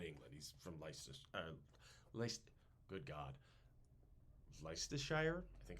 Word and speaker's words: Leicestershire: He's from good God, Leicestershire. I think it's Leicestershire? Leicestershire. That's a cheese, too. Yeah. Is it? I feel like they probably are just like, no, it's pronounced. It's Leicester.